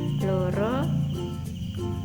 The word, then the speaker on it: loro: Vokal O cecek ini diucapkan seperti vokal O yang pada bahasa Indonesia.